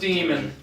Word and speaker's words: daemon: it's spelled daemons. We know. It's still pronounced demon.